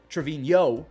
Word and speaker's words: Trevino: luckily for yankees fans jose trevino trevino is how you say it he grabs one